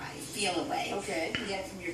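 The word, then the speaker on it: Feliway: in but I don't called feel away it's spelled f-e-l-i-w-a-y feel away okay you get from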